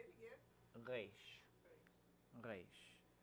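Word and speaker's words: ריש: It looked like a resh and a nun or something. Okay, and then the next letter is resh. Say it again. Resh. Resh. More of an So- A sound in there than E.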